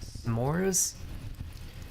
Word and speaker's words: s'mores: some more shmores yeah I said to rhyme with snores s'mores I don't know man